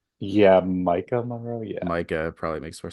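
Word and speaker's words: Maika Monroe: Yeah, Micah Monroe.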